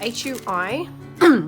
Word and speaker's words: Hui: It's spelled H-U-I, so my maiden name is spelled H-U-I and it's pronounced Hui, but I've had all variations of the pronunciation and it was just really tricky to spell.